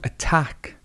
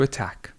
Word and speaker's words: attack: To attack. To attack. Again, the schwa is here, and the stress goes here. To attack.